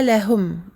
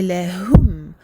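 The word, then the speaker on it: لهم: Quand vous voyez une dhamma, attention à bien prononcer le son ou, O-U en français. Donc c'est pas lahum, c'est pas un O. C'est lahum, lahum, et amincir le ha.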